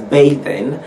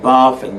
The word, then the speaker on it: bathing: a th ing but in your pronunciation because a verb form you have to pronounce the one as bathing and not barfing because Americans don't have